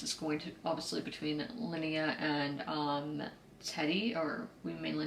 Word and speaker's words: Linnea: Okay, then there's this weird vibes between Linnea, that's how you say her name, Linnea and Kirsten, I don't know.